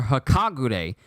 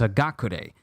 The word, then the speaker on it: Hagakure: still kept doing it her name is hagakurei h-a-g-a-k-u-r-e not h-a-k-a-g-u-r-e so i'm glad to